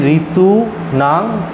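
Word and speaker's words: ऋतूनां: ধরা হবে মানে শিষ্যম তারপরে ঋটা আছে যে ঋতু না তলায় দেখুন ম এর তলায় ঋ দেয়া আছে তো ঋতুনাং কুসুমাকারা এইভাবে উচ্চারণটা হবে ঠিক আছে বোঝা গেছে তো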